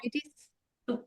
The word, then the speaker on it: Eugenides: So your main character is, now this is where I'm thinking maybe a Greek pronunciation, Eugenides. Well, Eugenides. well, we call him Jen because Okay. he goes by Jen for short.